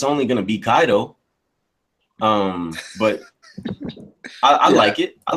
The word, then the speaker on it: Kaido: anime bro no no no no I said condo kaido however you pronounce it same oh kaido kaido you think